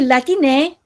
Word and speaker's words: Latiné: E atualmente surge outro término que é latiné, que é uma pronunciação mais acessível para o pessoal que fala espanhol ou fala português, porque é muito difícil falar latinex, né?